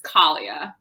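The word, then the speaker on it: Kallia: like to know about how do you say the lead leading lady's name uh munis kalia alia okay so i was saying that wrong glad i asked kalia so i love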